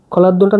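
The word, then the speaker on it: hladno: খলাদ্নটা নতুন শব্দ আমি পড়ে লিখে দিচ্ছি। এটা হচ্ছে এইচ, এটা খ উচ্চারণ হবে, LA, এটা ডি, এটা এন, এটা ও, খলাদ্ন।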